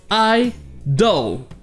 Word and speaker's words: idle: Ici, ça se prononce idol, avec le son E, doll.